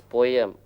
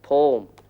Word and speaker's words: poem: Hey, it's not pronounced as poem, but poem. You have to get the pronunciation right if you want to learn it, Chandran.